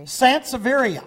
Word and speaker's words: Sansevieria: Well, you're going to have to tell me how to pronounce that, Jerry. Sansevieria.